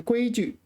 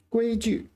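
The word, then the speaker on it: 规矩: So this is third tone, but you pronounce it neutral tone. So 规矩. 规矩.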